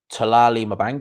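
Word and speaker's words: Thulani Mbenge: You know, Josh Taylor and Talali Mabanga is how you pronounce his name.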